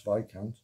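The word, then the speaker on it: Viscount: airlines um but they had to be taught how to pronounce vikant um beautiful aircraft never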